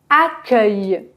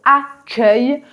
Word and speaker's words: accueil: E en premier mais rappelez-vous que la combinaison C + E se prononce ce et non pas que or dans le mot accueil on entend bien le son que et voici un exemple